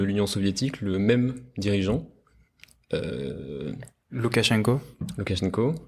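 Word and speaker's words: Лукашенко: Loukachenko, enfin qu'on prononce Loukachenka, mais en tout cas c'est le même dirigeant depuis la chute.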